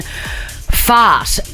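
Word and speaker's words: Pheart: The headline reads, I called my son fart. People keep telling me it sounds like fart. That's because it does. Okay, so it's spelt P-H-E-A-R-T, so like heart with a P.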